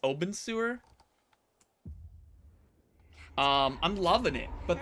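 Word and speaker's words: Obenseuer: uh creepy face yeah I don't think you pronounce it open sewer I think OB I think it's Oben sewer um I'm loving it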